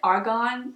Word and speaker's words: argan: has argument argument Lena do pronounce it argan or argument I pronounce it argan oil cuz there's no o in it I hate these